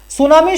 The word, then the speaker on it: tsunami: यह पूछा था कि सुनामी की स्पेलिंग कौन सी है। इस तरह थी, ठीक है। तो ये जापानी भाषा का शब्द है और उसमें टी जो है वो साइलेंट रहता है।